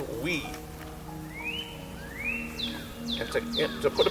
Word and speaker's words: wi: word it's w I it's pronounced we and to to put